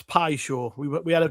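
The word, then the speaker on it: Paixão: I think it's Pi Show.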